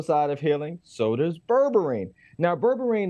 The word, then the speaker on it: berberine: for the masses necessarily yeah okay I hope pronounce this right but it's berberina did I say right barbarina oh close close is called berberine now berberine is interesting this is what was called Nature's